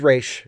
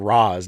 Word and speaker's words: Ra's: And yeah, he's Raish. To me, he's Raish. So yeah. And there you go. Bob Bathurst says Raish is the Arabic pronunciation.